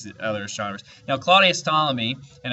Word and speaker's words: Ptolemy: other astronomers now Claudius Ptolemy and I know there's a p there but you don't pronounce the P it's silent Claudius Ptolemy was the most famous